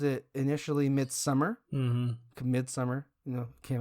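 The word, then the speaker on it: Midsommar: it's so Martin and you call it mid mid Samar okay I'm already getting confused yes midsummer is the correct pronunciation of this also about the movie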